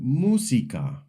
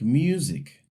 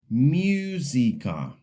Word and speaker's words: música: The word música. Some learners pronounce the U like you, almost like music. Música. In Spanish, the U is just U.